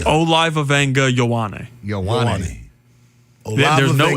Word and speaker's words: Ioane: Olivavenga Ioane. There's no N. There's no N in Vega, but it's like Venga.